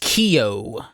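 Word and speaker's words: Keoghan: guy in Green Knight I think it's pronounced Kio really I think so yeah it's Irish it's weird ah it's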